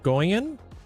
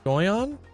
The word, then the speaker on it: Goyon: Is it Goyan? Goyon.